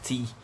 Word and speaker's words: tea: doce né que é tem na escrita um ditongo dos vogais mas da pronúncia é uma vogal sol si mesma a mesma pronúncia da primeira a primeira sílaba de teacher Mandy professor professora teacher